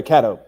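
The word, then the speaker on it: Catto: Yeah, Kato.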